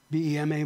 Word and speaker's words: Vema: First resurrection, you stand before the Vema seat of God. V-E-M-A, but it's pronounced Vema.